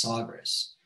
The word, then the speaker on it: Sagres: which is known also as, I think it's pronounced Sagres.